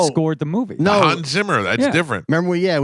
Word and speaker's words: Hans Zimmer: Hans Zimmer. That's Yeah. different. Remember, we had the Hans Zimmerman It's Hans Zimmer, not Show.